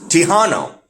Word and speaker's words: Tejano: It's Tejano. It's like Texas with an O at the end.